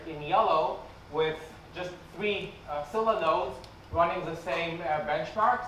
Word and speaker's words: Scylla: so I'll talk about silah uh if you're Greek you're allowed to pronounce it as skila but otherwise it's Sila uh so let's start